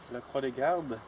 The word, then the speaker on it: La Croix des Gardes: La Croix des Gardes.